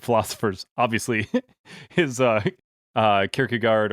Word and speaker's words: Kierkegaard: obviously his uh uh kierkegaard or kyrgy gore you know if you want to go the danish pronunciation and um i one